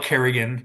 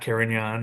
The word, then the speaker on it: Carignan: No, they still call it Carrigan, not Carignan, or yeah, Carignan, my wayward son.